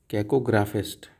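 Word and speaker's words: cacographist: कैको कैकोग्राफिस्ट कैकोग्राफिस्ट ओके मतलब क्या है जिसकी राइटिंग जिसकी स्पेलिंग्स खराब हो खराब खराब तरीके से लिखता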